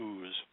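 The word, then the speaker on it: Uz: of OTS anywhere uh UTS or usually people pronounce it ooze which may have been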